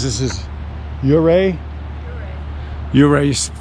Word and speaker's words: Ouray: Ouray is how you say it right.